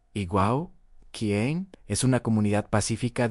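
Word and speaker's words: Eyam: Ham, como saben, se pronuncia Iguau, quien es una comunidad pacífica de unas 800 personas.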